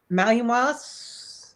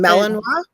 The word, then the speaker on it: Malinois: Like you can't have a Malinois. I can't pronounce that name. But Malinois? Malinois? yeah, Malinois.